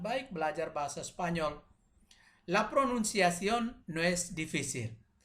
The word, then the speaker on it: pronunciación: Pronunciación berarti ditekankan di sini.